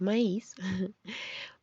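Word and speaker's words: maïs: Se escriben igual, pero el cambio es la diéresis de maíz, para saber que ahí sí se pronuncia diferente.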